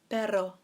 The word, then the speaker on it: pero: is this little word baro baro now if you can roll your ass on you double roll the RNA it will actually mean dog in Spanish so Pedro is dog but Baro is but now do you remember